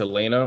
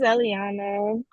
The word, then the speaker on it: Eliana: to move on to I don't know if it's Elena or Elana or how you pronounce it but it looks like you're on break so I'm going to run to you yeah my name is Eliana um I just turned